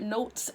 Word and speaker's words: Not3s: called notes i believe he pronounced his name like notes um he was exposed